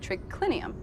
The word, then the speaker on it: triclinium: i n u m in Latin it's spelled as it sounds but here trinium has